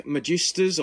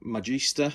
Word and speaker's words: Magista: that now these are Nike Magistas or Magista however you want to pronounce it Magister um they are you